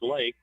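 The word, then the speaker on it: Leek: It's L-E-E-K, pronounced Lake, G-E-U, G-E-U-L-E-E-K, A-T-E-N-Y.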